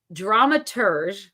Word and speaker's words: dramaturge: I need to because I can't ever pronounce it right it's dramaturge okay we're going back to that French term because I feel like it's a French term and these of dramaturge is a person who